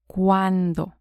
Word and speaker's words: cuándo: ¿Cuándo? ¿Cuándo? So before we saw cuánto. Now is cuándo. ¿Cuánto? ¿Cuándo? The D has a softer sound.